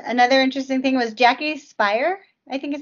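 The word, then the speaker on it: Speier: what's her name uh jackie spire i think it's how you say it it's a s-p-e-i-e-r i want to check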